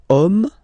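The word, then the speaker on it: homme: we get the word om man okay but then it starts with Ash as in French Ash is not pronounced so the first sound that we hear is O Okay and then it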